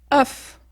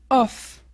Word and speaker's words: cough: de ces deux catégorie quand ça finit par O U g à la fin d'un mot on prononce off ou off donc tu vois c'est relativement la même chose oFF oFF autre cas de